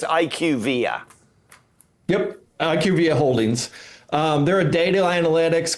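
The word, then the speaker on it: IQVIA: BUT IS IQ VIA HEALTH CARE DATA? SO IT'S IQ VIA.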